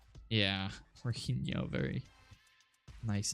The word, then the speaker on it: Jorginho: Horino? Horino? Is that how you say it? A lot of silent letters there. Jorginho is how you pronounce it.